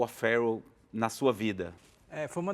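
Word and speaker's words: O'Farrill: O'Farrell, a pronúncia. Em inglês se fala assim, né?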